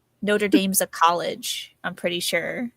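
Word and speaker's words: Notre-Dame: know that there's a place in France called Notraam. Um, and that's how it's actually supposed to be pronounced. Notre Dame's a college, I'm pretty sure.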